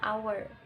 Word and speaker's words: hour: endip karena our disini walaupun tulisannya pakai ha Tapi bacanya hour Jadi kalau digabung sama